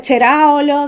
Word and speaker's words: Ceraolo: se pronuncia Cheraolo, se escribe Ceraolo.